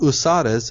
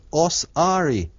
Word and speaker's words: Osiris: what you're talking about if you spell the word Osiris it's o s i r i s h but in Egyptian it's not spelled like that at all it's spelled as USIS a u s a r s but that again is a corruption it's not uses it's osari H Osiris is really osari right a right that's